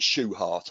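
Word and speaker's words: Shewhart: introduced by dr what w stuart pronounced shoe heart or stuart schwert he contributed a number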